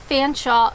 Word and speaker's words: Featherstonehaugh: I know, in Ontario, we actually have a college called Fanshawe College, and it is spelled as one might suggest, Fanshawe. You're telling me that Featherstonehaugh is also Fanshawe. You guys know that's not right.